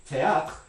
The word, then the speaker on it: théâtre: If you were going to write this phonetically, that R sound at the end of the word in French, following this voiceless stop, is actually a voiceless uvular fricative, ha. So this is going to be something like théâtre, right?